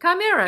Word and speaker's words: Chimera: Okay, so pardon my pronunciation, but I think it's Chimera. That's perfect. Chimera. It's exactly Good right. job. That's it. Excellent pronunciation. Guys, you got to start sucking so that like somebody can win.